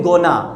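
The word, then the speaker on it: gonna: गोइंग टू को अगर हम लोग शॉर्ट में मिलाते हैं तो उसको हम लोग बोलते हैं गोना, ओके।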